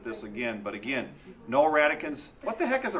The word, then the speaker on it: radicand: It's pronounced radicans.